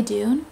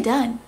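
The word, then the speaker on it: Dunne: Claflin Billy Dunn which I always thought it was Billy Dune it's Billy Dunn am I just like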